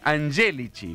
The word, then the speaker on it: Angelici: se dice Angelici, con acento en la E. Es verdad. Porque viene de angélico.